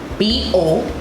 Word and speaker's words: bodega: B-O-D-E-G-A. So D-E, you can pronounce it as day, as in D-A-Y, bodega.